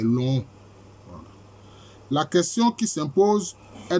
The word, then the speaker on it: Lonhon: frères de mes doigts voilà la bonne prononciation c'est long la question qui s'impose